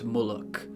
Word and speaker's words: Muluk: the goblins worship an aspect of Malakath named Muluk. That's spelled M-U-L-U-K, and it is very similar to the aspect of Malakath named Mauloch, acknowledged by certain orcs.